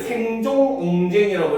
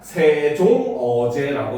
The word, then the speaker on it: 세종어제: 그래서 그냥 이응 있는 거는 발음이 안 되는 거예요. 그래서 우리가 얘를 생종쟁이라고 읽으면 되는게 아니라 세종어제라고 읽어야 되는 거예요.